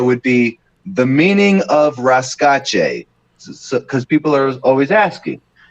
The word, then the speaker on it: Rasca: asking me hey what how do i even pronounce that what's it bro no no no it's rasca what does that mean where did you get